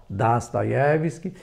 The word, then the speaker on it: Dostoiévski: de Assis, falamos sobre Fyodor Dostoiévski, ou como se diz na pronúncia original, Dostoiévski.